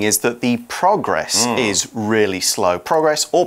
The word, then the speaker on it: progress: talk about moving forward there you would change the pronunciation put the stress on the end progress towards your goal or